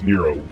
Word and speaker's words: Nero: did you mean me it's it's Nero not nuro the mispronounce iation the